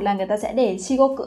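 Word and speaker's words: 至極: thể sẽ đọc là shikoku. Thế nhưng cách đọc đúng của nó không phải là kyoku, mà trong trường hợp này nó sẽ đọc là shigoku.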